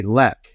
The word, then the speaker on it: lek: It's called a lek. So L-E-K is how it's spelled.